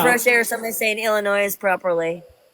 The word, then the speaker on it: Illinois: And I'm like, why does he keep saying the S?